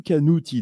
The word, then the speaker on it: Canuti: lu ses bouquins, Canuti. Canuti ou Canuti d'ailleurs? Ah, si tu le prononces à la Corse, ça va donner Canuti. Si tu le prononces à la française, ça va donner Canuti.